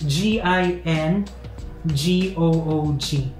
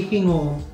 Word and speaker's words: Gingoog: hing the spelling is g i n g o o g but you will pronounce the g as h say hingo hingo yes not Gingoog